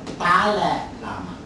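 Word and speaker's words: Dalai Lama: he is called tal Lama tal Lama English people cannot pronounce tal so he becomes Dal l in Malay we call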